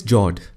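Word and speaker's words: fjord: the next one is jord the f word is silent when you pronounce it these are a long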